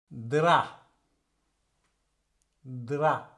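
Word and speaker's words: drap: ப்ரா கை கையை சொல்லுவோம் வந்து பிரா கிராப் கிராப் கிராப் நண்டு நண்டை சொல்லுவோம் வந்து கிராப் திரா திரா அப்ப இந்த சொல்லலையும் பேயை உச்சரிக்க மாட்டோம் திரா திரா படுக்கை விரிப்பை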